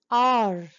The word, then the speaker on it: hour: Here H is silent and we pronounce it as honest. We don't say honest. We don't say hour. We don't say honor. We say honest man, an honest man, an hour, an honor.